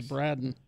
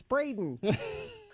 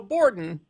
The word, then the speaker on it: Braden: His name's Braden. It's Braden. Yeah, it's mostly because of the fact that people get my name wrong. So Borden, could you tell us why you're sad?